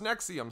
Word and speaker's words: NXIVM: Yes, as you can see from the way that it's written, it's like NXIVM. So that's pronounced Nexium somehow.